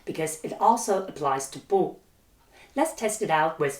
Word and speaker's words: 不: Yes, they should all be pronounced with the fourth tone as each of them is followed by the first, second, and third tones.